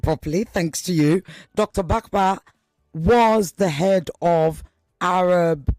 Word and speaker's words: Bahbah: When you say, and this is why it's also even more curious, Bakba, now I pronounce it properly, thanks to you, Dr. Bakba was the head of Arab Americans for Trump.